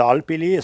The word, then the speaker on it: Alpili: Das Alpili, so spricht man es aus, Gemeinde Wartau, Galtvieh, Alp, Weid und Wald, zu hinterst im Hinterbill Fries.